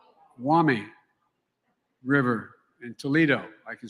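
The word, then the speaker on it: Maumee: I always mispronounce it, the Mawami River, right? Wami River in Toledo.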